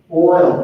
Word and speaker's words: oil: Oil can be one syllable.